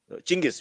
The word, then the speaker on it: Chingis: Chingis. We pronounce it with the ch, not with the j.